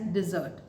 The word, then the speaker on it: dessert: is pronounced as desert and double s is pronounced as dessert so guys keep learning keep watching bye-bye for